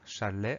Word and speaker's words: chalet: Il y a le son ch, ch, mais ça, tout va bien. Donc, la première syllabe, chat, ch-a. Et enfin, on a le son e, chalet, à la fin du mot. Et ce son e, il s'écrit et.